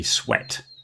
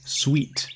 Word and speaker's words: sweat: I only put this because people get confused when they try to say sweat and they say sweet by accident.